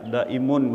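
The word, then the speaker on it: دائمون: Ya, seperti yang saya sampaikan tadi malam itu, agar kita itu di dalam Al-Qur'an itu dikatakan salat daim ya, daimun bacanya.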